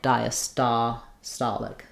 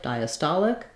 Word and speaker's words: diastolic: Y sound and then for diastolic it's just the same as we have the D um it'll sound like d so our same V vow linking um and then our same ending as systolic diastolic so stolic diastolic toic